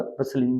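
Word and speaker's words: bustling: option आपका सही होगा बलिंग बजिंग और बलिंग का य पर टी साइलेंट है राइट एनी थ्री राइमिंग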